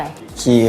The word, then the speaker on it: Quay: อ่าน ว่า อะไร อ่ะ ชื่อ ร้าน อ่าน ว่า อะไร คีย ครับ ผม อ่าน ว่า คีย คีย์ ไ ถูก ม ครับ อ่าน ว่า Key 5 นั่น เอง แปล ว่า